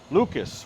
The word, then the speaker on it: Lucas: Lucas rhymes with mucus.